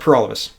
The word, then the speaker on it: Paralovos: my name is pur all of us and that rhymes with for all of us and that sounds cheesy